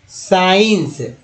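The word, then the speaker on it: science: अब देखिए सी सर्स, उसके बाद देखिए सीन सी साइलेंट हो गया, सीन, साइंस एस सी आई एन सी को साइंस बोलते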